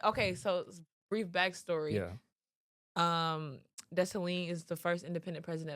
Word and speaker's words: Dessalines: With a silent S. So if you see her name, you see her last name, don't say the S, right? No. It's like Lines is lean.